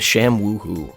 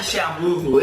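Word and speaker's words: ShamWow: from that era, the Sham Woohoo. Not the Sham Woohoo, it's called the Sham Woohoo! Say it like that.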